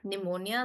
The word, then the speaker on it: pneumonia: with a P but we pronounce it with an n pneumonia like that.